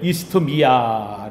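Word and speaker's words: Isthmia: 올림픽 제전이 있었는데 이게 이스트미아 제전인 우리가 흔히 이스미 이미야 발음을 빼고 그냥 이미야 이미야 이렇게 하는데 그 이미야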